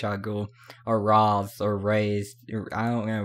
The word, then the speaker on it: Ra's: character as Ra's al Ghul, or Raz, or Raze, I don't know, Rash.